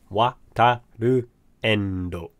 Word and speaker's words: Wataru Endo: That's how you say it, Wataru Endo.